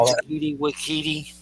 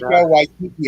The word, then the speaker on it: Taika Waititi: Say his name, Takiti Wakiti. Did I say it right? Taika Waititi, I think is the way you say it.